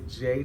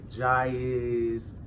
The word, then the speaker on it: Jai: Once again, my name is Jay. It's spelled J-I. I know a lot of y'all who follow me on Instagram call me Jais, Jaz. It varies.